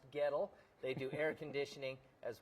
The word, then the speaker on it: Goettl: So, if you see the trucks driving around town, it's pronounced ghetto.